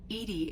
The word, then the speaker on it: EDI: are you named Edie Edie is the phonetic pronunciation of e di that is an acronym for enhanced defense intelligence uh where are you